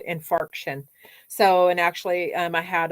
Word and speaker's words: infarction: I call them fraction I'm not mispronouncing it it's called infarction so and actually I